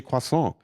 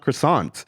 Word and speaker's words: croissant: look at me strange when I say quason and I'm like that's how it's pronounced it's not croissant you know and I